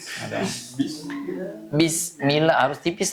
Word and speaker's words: Bismillah: Ba itu termasuk yang mempunyai sifat syiddah kuat ya. Jadi bacanya bi gitu ya. Bismillah.